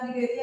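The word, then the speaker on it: Cnidaria: ठीक है, इसमें बहुत सारे जैसे कि सिलेंट्रेटा में ओ, ठीक है, और निडेरिया में सी, ये सब क्या है साइलेंट है।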